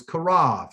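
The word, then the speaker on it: קרוב: actual pronunciation so it's karov and you it won't be that b sound it would actually be a soft v sound okay so but if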